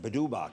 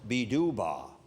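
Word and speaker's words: Pitpaq: we call it the bedba committee well I was corrected and this uh it's pronounced Beba but it's spelled p i t p AQ and what that means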